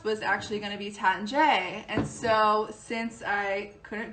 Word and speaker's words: Taittinger: going to butcher it, the correct way is to say it Taittinger. And if the French wine tutor is in the house, she is the person to go to for all French pronunciations. So check her out. Anybody feel free to correct me or phonetically spell it in the comments, but I believe it's Taittinger, which sounds a lot better than Taittinger.